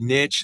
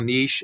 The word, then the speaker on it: niche: Whenever you see that next word right there, this one right here, some people pronounce it niche, some people niche. It all depends on how you like to pronounce it.